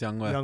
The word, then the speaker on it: Younghoe: Younghoe Koo. Youngway. Youngway Koo. Yes. How you say his name? I think it's Youngway. Yeah, that's Youngway.